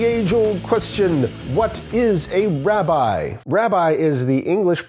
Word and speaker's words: rabbi: possessive pronoun letter so the word Robbie or Robby means my master or my teacher and in English we pronounce that word rabbi instead of Robby because the english-speaking peoples do terrible things with vowels I confess this